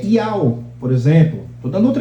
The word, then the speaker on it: IAO: Não é Iaô, é Iao, por exemplo. Estou dando outro exemplo, né? Aí tem gente que vai ler lá. Iaô. Não é Iaô, é Iao.